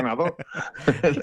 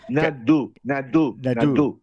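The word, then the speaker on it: Nadaud: Y Nastasia Nadó. Totalmente. Nadó. Bueno, que cuidado, que es que... No tienes que pronunciar una U, pero poniendo boca de O.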